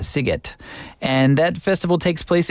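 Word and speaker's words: Sziget: well it's s zi g t and that's pronounced sigot and that Festival takes place in Budapest which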